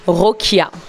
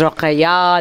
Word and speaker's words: Rokhaya: Rokia. Mais au Sénégal, ils disent Rokhaya, les Rwandais disent Rokhaya, donc Rokia.